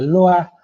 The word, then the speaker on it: Lois: una misma autora, que el apellido es Lois, se pronuncia Loa, que es Carla Loa, que les cuenta cómo hemos vivido la cartografía en Argentina.